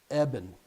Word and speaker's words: Eben: Aben Upton is the creator and the head, the god of Raspberry Pis. And Dave Rush really scored a coup to get Dr. Aben Upton to come on at Eben.